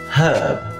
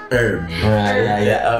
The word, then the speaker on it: herb: really weird for me herb why do you guys drop the H that's so weird for